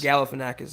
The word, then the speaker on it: Galifianakis: This profile pic that you're rocking now on Facebook, Mark, of is it Galifianakis? How do you say that? Zach Galifianakis? Galifianakis, yeah.